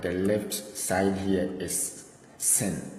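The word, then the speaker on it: שׂין: This is sin. Sin. You see this dot here? Sin. It is pronounced as sin. Anytime you see this with a dot here, it is pronounced as sin.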